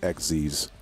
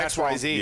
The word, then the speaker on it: Xyz: Which, by the way, I hate that it's pronounced fucking XZ's. Yeah, it's XYZ. I always call it XYZ. Yeah, but it's not. It's pronounced XZ's. Because you want to know why? Because there's a fucking fusion monster called XYZ Dragon Cannon.